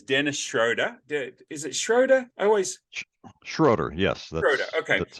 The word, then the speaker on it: Schroader: Schroader, yes. Schroader, okay. That's how it's pronounced, yes.